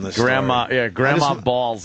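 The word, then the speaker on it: Baals: Yes, Harry Balls. And it's Harry Balls. It's spelled B-A-A-L-S. That's balls.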